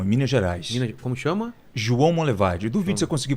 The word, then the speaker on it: João Monlevade: João Monlevade. Duvido se eu conseguir pronunciar corretamente. João Monlevade?